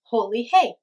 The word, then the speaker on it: Holi: People chant, "Holi hey!" which is pronounced "Holy hey!"